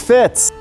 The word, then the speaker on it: Fitz: your name Deidra Deirdre it's Fitz oh it's Fitz she's fits my name is Fitz you know my